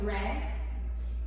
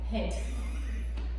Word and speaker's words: red: que em inglês, claro, pronúncia Red, só que muitos de nós, eu já fui essa pessoa também quando eu estava estudando, tá gente, que pronunciava famoso o quê? R. Head. He red, tá?